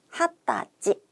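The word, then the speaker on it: 二十歳: 핫다지.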